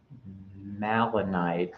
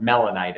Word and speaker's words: melanite: Malonite. It's a type. Garnet. It's a type of garnet. It's a garnet. Yeah. So typically it's kind of in a block formation. But melanite is what how it's pronounced.